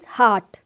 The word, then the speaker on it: heart: Dear students, R is silent in this word heart. It is heart.